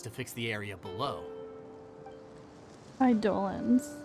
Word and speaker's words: Eidolon: Eidolons. That's how you say it for Hungry Star Rail.